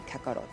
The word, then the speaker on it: Kakarot: So if the actual intended name that the creator was trying to create in Japanese was Kakarot, then the best way to pronounce that would be Kakaroto.